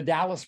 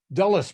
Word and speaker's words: Dulles: Did anybody remember the Dallas brothers? Dulles brothers. I knew I had to say his name wrong.